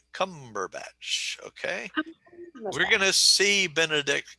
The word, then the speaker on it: Cumberbatch: the first syllable okay and cumberbatch three three syllables emphasis on okay so it's a three one word cumberbatch okay we're gonna see